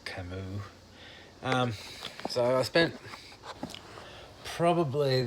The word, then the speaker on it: Camus: Um, yeah, I would have pronounced it Camus, Camus, but it's actually pronounced Camus.